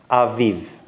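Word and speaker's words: אביב: Every letter with a vowel under it must be pronounced. And without a vowel, you've got to blend into it. So it's a, v, v. We're going to blend it. It becomes aviv.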